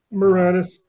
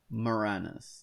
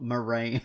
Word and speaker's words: Moranis: Oh, how do you pronounce? Well, you're Canadian. He's Canadian, so you can tell me. Moranis, eh? Moranis. There we go. Not Moraine.